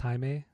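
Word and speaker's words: Jaime: In Spanish, it's not Jamie, it's Haime.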